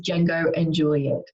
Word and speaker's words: Django and Juliette: the fantastic and which I've checked the right pronunciation of is Django and Juliet so it's actually started by Carrie Monroe back